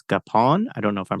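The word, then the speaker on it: Gapon: is a relationship with Father, I think it's Gapan. I don't know if I'm pronouncing that right. Father Gapan.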